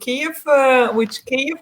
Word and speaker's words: Kyiv: So if you come to Kyiv, which is correctly being pronounced as our capital, it's about up to 5 million people who are living there.